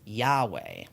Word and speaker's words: Yahweh: One of the ways that English speakers have tried to pronounce this name over the years, though, is Yahweh.